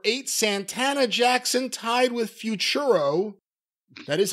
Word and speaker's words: Futuro: Number eight, Santana Jackson, tied with Futuro.